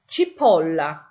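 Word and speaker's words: cipolla: So the first one I've got there is chipola. You see where the O is in italics? That's where your stress is on the word chip.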